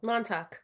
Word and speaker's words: Montauk: out by Long Island, Mantoc, no, Montauk. Montauk. Thank you, couldn't say it correctly.